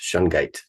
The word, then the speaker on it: shungite: about shite so Jason H did I even pronounce that correctly you're right on yes yes Katherine perfect shungite so Jason hunt for our audience what exactly